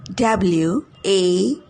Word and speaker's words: wanted: How do you pronounce the word W-A-N-T-E-D? W-A-N-T-E-D. Wanted? Well, it's pronounced as wanted. Wanted. Remember, words ending with T and T sounds end with an id sound in their ed form, such as suggested, decided, needed, etc.